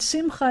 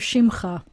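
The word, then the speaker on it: שמך: And I thought you said simcha instead of shimcha, but it might have just been my speakers.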